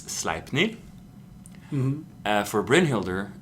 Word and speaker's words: Sleipnir: And for Sleipnir, it's Sleipnir.